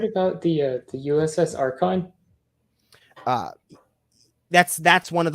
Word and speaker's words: Akron: have you heard about the uh the USS archon uh that's that's one of those is that how you pronounce it are those are the Akron yeah certainly I have so was the Akron